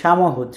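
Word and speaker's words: samochód: এই শব্দটার উচ্চারণ হচ্ছে সামহুদ, সামহুদ। দেখেন সিএইচ এর উচ্চারণ কিন্তু আমরা আগে পড়েছিলাম হি, তো হর মতো। তো এই পুরো শব্দটার উচ্চারণ যদি আমরা এভাবে করি তাহলে সামহুদ, সামহুদ মানে হচ্ছে কার বা গাড়ি।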